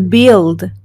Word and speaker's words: build: video siguiente verbo to build to build y aquí bueno notarás que se escribe build pero no decimos build to build no la u prácticamente se elimina y solo dices to build que es construir como